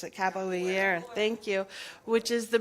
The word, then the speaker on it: capoeira: You guys know how to pronounce it. Capoeira.